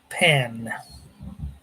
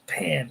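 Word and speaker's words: Pahn: The nat is refer referred to the planet as pan spelled p h sorry p a hn pronounced pan. Baroness Giler says spel pronounced pan p an like the pan frying like a frying paner says.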